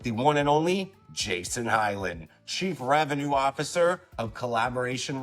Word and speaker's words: Hiland: Special guest today, Jason Hilland. Am I pronouncing that correctly? No, you you slaughtered it to be honest with you. It's Highland.